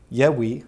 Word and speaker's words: Yahweh: Yahweh, that's another pronunciation. And again, you're talking about removing the holum or the O sound. That's where that the removal of the O comes from.